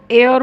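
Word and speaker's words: heir: इसको एयर बोलते हैं, लिखा एच जाता है लेकिन एच को प्रोनाउंस नहीं किया जाता।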